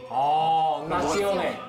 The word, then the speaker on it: nazione: 이 피온 발음만 시오네로 바꿔주면 되거든요. 시오네. 예. 나시오네.